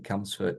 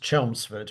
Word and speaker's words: Chelmsford: What do you remember from your time in Camsford and North London? Well, uh, if you'll forgive me, it's pronounced Chelmsford, which is a town in Essex to the